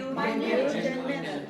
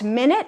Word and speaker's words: minute: So the other classification of heteron words where you change the emphasis from the first syllable to the second or even the third syllable. So minute is the unit of time, right? And then minute is tiny.